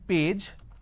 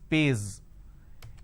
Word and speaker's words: page: Some people have the problem of a j and z. For example, page. So, instead of saying page, they pronounce this as pays.